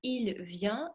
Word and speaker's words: vient: Обратите внимание, произношение единственного и множественного числа. Il vient, носовой. Il vient, звонкий N на конце обязательно произнести нужно.